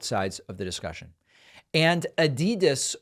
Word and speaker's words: Adidas: And Adidas, or Adidas, as some of our friends pronounce it, has retracted their opposition to the Black Lives Matter 3-stripe design.